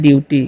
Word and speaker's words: duty: चलिए DUTY है तो इसे हम लोग पढ़ते हैं ड्यूटी, क्या पढ़ते हैं ड्यूटी, ठीक है।